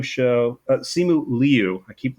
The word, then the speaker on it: Simu Liu: Uh one that I I very nearly put in is from the Simu Liu show. Uh Simu Leu. I keep mispronouncing his name.